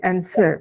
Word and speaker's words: answer: Hai Terus yang ini answer b nya itu tidak usah dibaca jadi encer saja yang berikutnya difficult fb-nya